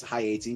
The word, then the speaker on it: Haiti: in Haiti yeah um incorrectly pronounced often as Haiti it's high 80 that's how they were